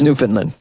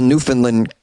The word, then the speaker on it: Newfoundland: It looks like you would pronounce it Newfoundland or Newfoundland, but I think it's Newfoundland. Please call me.